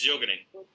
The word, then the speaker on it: Sjögren: Profe, es que cuando tú hablabas de un síndrome de, no sé cómo se pronuncia, Sjögren. Es Sjögren. Exacto.